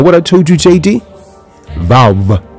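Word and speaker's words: ו: Vav makes a V sound, but is also used as a vowel, making either an ooh, ooh, ooh, ooh, or an oh. Sound.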